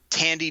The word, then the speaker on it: Thandie: want to talk about Thandie Newton. So I think I'm pronouncing that right. She spelled it with a TH, but I think the H is silent.